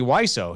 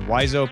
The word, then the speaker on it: Wiseau: Hey, man, Tommy Wiseau, is that how you pronounce it? I think it's Tommy Wiseau.